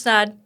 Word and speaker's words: Snaadt: Hi, it's Snaadt. Also rhymes with odd.